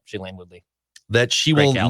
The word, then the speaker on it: Shailene Woodley: Like Judd saying, remember last week, Judd said Aaron Rodgers' new celebrity girlfriend or fiance, is it pronounced Shailene Woodley? Yep, Shailene Woodley.